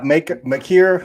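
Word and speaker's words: Makeer: McKeer. I think on the broadcast they be saying Agat Maker, but I think it's McKeer.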